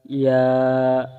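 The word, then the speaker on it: ياء: আসি ইয়া ইয়া ইয়া এক আলিফ টেনে ইয়া উচ্চারণ করব যেমন ইয়া ইয়া ইয়া প্রিয় শিক্ষার্থীবৃন্দগণ যেভাবে আমি পড়িয়েছি এভাবে যদি আপনারাও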